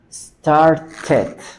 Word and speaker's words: started: conocíamos la de liv, pero si es que la la e está presidida por una t o por una d, que o d, ahí sí tengo que pronunciar, tengo que estresar el sonido de la e. Start. Si va pasado, started. Fíjese que ya no digo start, start, sino started.